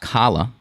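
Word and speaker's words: challah: see diane said uh it's it's pronounced kala uh braided traditional jewish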